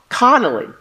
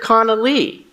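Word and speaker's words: ConaLee: was Miss Janet and said my name wrong Connelly instead of conal Lee just after Dawn we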